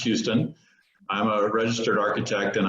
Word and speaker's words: Huston: I am Huston. It looks like Huston, but it's actually spelled or pronounced Houston.